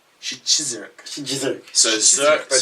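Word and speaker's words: Szczyrk: Shizurk? Shizurk. How do you say it, really? Shizurk. Shizurk. SZ is sh. CZ is chiz. YRK is irk. Chizurk.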